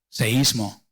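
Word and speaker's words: σεισμός: es una palabra griega que se produce se pronuncia seísmo.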